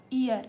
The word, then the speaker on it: ihr: इसका प्रोनंसिएशन आप देखिए। आई एच आर ईयर यहां पर ई से स्टार्ट होगा। लेकिन अभी यहां हमने देखा था इ आर एयर इसको ये ए से स्टार्ट हो रहा है।